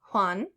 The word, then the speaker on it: Juan: J is pronounced like the English H, so like Juan.